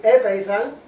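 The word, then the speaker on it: ἔπεισαν: Y esa palabra griega, persuadir, epeizan, se pronuncia así, epeizan, significa inducir un cambio en la manera de pensar mediante la influencia de la razón o de consideraciones morales.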